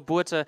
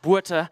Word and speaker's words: Botha: of fishing with Botha. I know you guys, in South Africa, we pronounce it Botha, so not Botha.